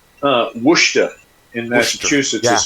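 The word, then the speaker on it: Worcester: It's like uh Wooa in Massachusetts is spelled Warchester. Yeah. If you heard that, you would spell it a certain way. But when you say Warchester, no wor.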